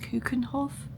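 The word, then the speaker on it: Keukenhof: But the tulips actually in, I think it's pronounced Kuekenhof.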